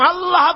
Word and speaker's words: আল্লাহ: হয় না কেউ বলে না আল্লাহ আল্লাহ পাকের উচ্চারণটা হচ্ছে আল্লাহ পাকের নাম হচ্ছে আল্লাহ মুখটা একটু গোল হয়ে যাবে বলেন আল্লাহ আল্লাহ পৃথিবীতে বিভিন্ন জাতি তার স্রষ্টাকে তারা